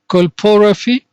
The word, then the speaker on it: colporrhaphy: The first term is colporrhaphy, and colp here means vagina, and I think you are familiar with this one now.